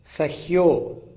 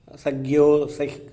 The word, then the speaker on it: சஹ்யோ: இந்த ஸ்லோகத்தில் மகேந்திரமலை, மலையமலை, சஹ்யாத்ரி மலை, ஹிமயமலை, ரைவதக மலை, விந்தியமலை, ஆராவலி, இப்படி மலைகளை எல்லாத்தையும் ஸ்லோகத்தில் சொல்கிறாங்க. மகேந்திரோ மலையா சஹ்யோ, சக்யோ சக்கியோ அப்படிங்கிற மாதிரியான உச்சரிப்புகள்லாம் வராமல் சஹ்யாத்ரி மலை என்பதை குறிப்பதற்காக சஹ்யோ என்ற உச்சரிப்பு வரணும். அடுத்தது தேவதாத்மா அப்படிங்கிற மாதிரியான உச்சரிப்பு வந்துடும்.